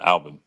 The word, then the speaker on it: Albin: Yeah, Alvin. Alban.